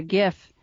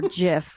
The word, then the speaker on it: GIF: girl that it's a it's a gif or Jif however people want to pronounce it but the girl they